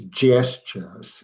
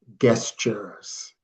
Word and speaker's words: gestures: The word is gestures, not guestures.